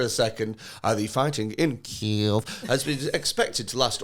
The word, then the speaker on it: Kiev: a meeting where they've been told how to pronounce Kiev. Yeah. So it, you know, 3 weeks ago it was Kiev and that's the end of it.